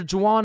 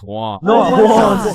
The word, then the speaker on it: Juan: That's just how it's pronounced. Jan, is there Jawan in the room? It's Juan.